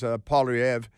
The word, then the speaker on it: Poilievre: His name is Poilievre because it's French.